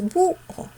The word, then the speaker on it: búho: Pero la cerrada se pronuncia con mayor fuerza de voz, porque tú dices búho.